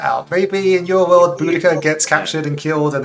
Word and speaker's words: Boudica: What's the right way to pronounce her name? Boudica.